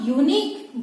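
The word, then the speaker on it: unique: अब इसके एग्जाम्पल की तरफ देखिए, अ यूनिक बुक, यहाँ पे यूनिक, यूनिक में आप देखिए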